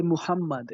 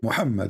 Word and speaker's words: Muhammad: I say Muhammad. Is that how you say? Muhammad, yes, Muhammad.